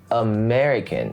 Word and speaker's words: American: because i'm an american the stress is on the second syllable american american so practice thinking